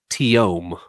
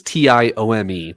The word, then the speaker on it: Tillaume: They say it's spelled Tillaume, but they say it Tiome. Tiome. Huh. They skip the L's, and it's like the way they pronounce it is Tiome, Tiome.